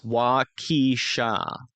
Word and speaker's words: Waukesha: It's Waukesha.